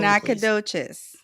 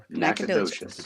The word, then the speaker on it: Nacogdoches: someone say that properly Nacogdoches Nacogdoches I've been there so the g is silent yeah right Nacogdoches yeah I've been there